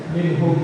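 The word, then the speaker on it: مِنْهُمْ: Kalau bacaan izhar itu harus dibaca apa? jelas tanpa ditahan ya. Ya, berarti bacanya harusnya minhum.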